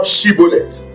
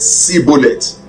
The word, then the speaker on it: Shibboleth: If he said no, then said they unto him, Say now Shibboleth. And he said Sibboleth, for he could not frame to pronounce it right.